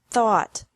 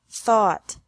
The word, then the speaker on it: thought: Thought. Thought. Remember that the G is silent in these verbs.